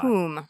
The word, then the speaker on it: cum: coom, by the way. That's spelled cum.